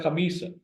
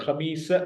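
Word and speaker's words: خميس: और सीन पर जबर, खे पर जबर, मीम और ये आपस में जेर के साथ कनेक्टेड, सीन पर जबर। खमीस मीन्स जुमेरात, थर्सडे।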